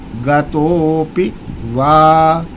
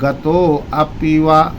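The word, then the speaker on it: गतोऽपि वा: गतोप वा गतोप वा। यहां आ का उच्चारण नहीं करेंगे। कुछ लोग आ का उच्चारण करते हैं। बोलते हैं गतो अपिवा नहीं तो मंत्र में मात्राओं में फर्क आ जाएगा अंतर आ जाएगा तो वो बात नहीं बनेगी।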